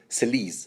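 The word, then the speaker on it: Selyse: Celise. I'm gonna give you the French pronunciation.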